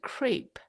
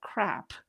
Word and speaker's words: crepe: e you know like I mispronounced the word crepe I once said you know I want when my boss asked me what are you eating for lunch I said crap and everyone in the